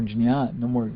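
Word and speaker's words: jñāna: Well, the word being translated to know is jnana, So there's no more jnana, let's say, pronounce it correctly.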